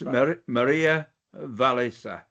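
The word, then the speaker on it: Walliser: And it's Maria Valisa. Perfect pronunciation.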